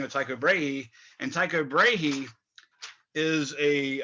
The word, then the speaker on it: Brahe: probably Continental words so they're really hard to pronounce but Brae b r ah h e is his name